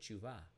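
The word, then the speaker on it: תשובה: repentance we call that teshuva teshuva is actually repentance or returning back to god many pronounce it as teshuva but in israel they even say it faster they'll say chuva chuva chuva is returning back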